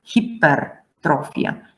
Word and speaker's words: hypertrophia: Amylum, butyrum, hypoglossus, hypertrophia, so not hyper, hypertrophia, myopia, pyometra, pyrexia, myocardium, amygdalus, myologia, glycerinum, cytologia, monocytus, myotonia, pylorus, pyemia, cytolysis, erythrocyte, and so on.